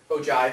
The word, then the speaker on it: ogive: at an ogive that can be interesting enough ogive is how that's pronounced it's interesting it's useful you've got a